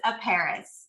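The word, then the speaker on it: Aparis: It's a Paris. So it's just like the city of France with an A in front of it.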